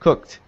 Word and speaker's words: cooked: it's pronounced like this it sounds like cooked with a t at the end cooked whenever we have a